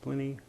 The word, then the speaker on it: Pliny: I pronounce it Pliny. I've heard it pronounced Pliny Moore.